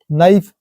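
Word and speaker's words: knife: हम न कहां पढ़ रहे हैं नी पूरा साइलेंट मतलब घुटना होता है एन के पहले के आया है नाइफ एन के पहले के आया है के के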